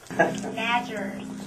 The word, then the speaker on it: Nadgers: Nadgers. Nadgers. Rhymes with badgers.